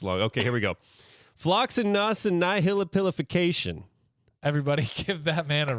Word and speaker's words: floccinaucinihilipilification: Floccinaucinihilipilification.